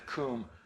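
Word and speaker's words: Cwm: The reason it's called the Coombe is because open valley in Welsh is spelled C-W-M. The Brits who got to name this evidently had a little respect for the Welsh and named it after a Welsh word.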